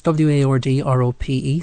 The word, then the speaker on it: Wardrope: It's Wardrope, so it's Wardrope.